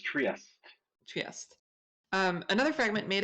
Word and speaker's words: Trieste: stop is Trieste.